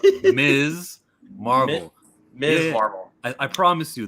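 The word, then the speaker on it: Ms. Marvel: that pans out more did you just say Miss Marvel I'm sorry um is Miss Marvel you better listen her name is pronounced Ms Marvel Ms Marvel I promise you the pronoun of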